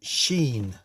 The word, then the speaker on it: Sin: tea saan Gods included sin pronounced Sheen who was a Moon